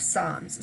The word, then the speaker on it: psalms: is a book of psalms so both psalms and soul star oddly do not pronounce the p and they are from